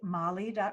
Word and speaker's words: Mali: me of em e moly calm which is spelled like my name em e and then mal I like the country in Africa dot-com and when you go to any Molly comm I have a